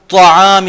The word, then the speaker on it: طعام: وَلَا يَحُضُّ عَلَى طَعَامِ الْمِسْكِينِ, یہاں تا نہیں کہنا, طعام المسکین, اور یہ شخص رغبت نہیں دلاتا مسکین غریب کو کھانا کھلانے کی.